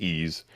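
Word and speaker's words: Ys: Uh, the East series um it's just spelled uh with a Y and S and pronounced E.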